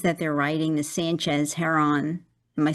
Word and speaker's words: Heron: they're writing, the Sanchez Heron. Am I saying that name right? I don't know if there is a correct name for it's like it's like the bird.